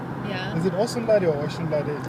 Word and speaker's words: Osunlade: Is it Osunlade or Osunlade? How do you pronounce it?